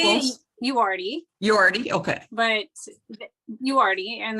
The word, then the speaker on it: Uriarte: Uriarte, Uriarte.